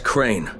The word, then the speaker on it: Crane: no my name is crane crane crane rhymes with train and pray and say and clay and rain and plane and the other kind of plane and and can